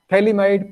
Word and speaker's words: phthalimide: Phthalimide, PH is the silent. That's why it is pronounced as phthalimide.